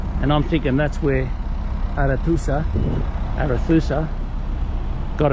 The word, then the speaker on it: Arethusa: Arethusa of Welton Heath. Did I say it right? Sorry, no. The Arethusa?